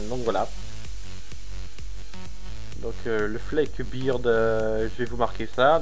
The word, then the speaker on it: Flak Beard: Donc ça c'était pour le dragon pirate qui s'appelle le Fleck Beard. Donc voilà. Donc le Fleck Beard, je vais vous marquer ça.